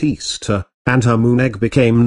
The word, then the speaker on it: Ishtar: semiromis became known as Ishtar which is pronounced Easter and her Moon egg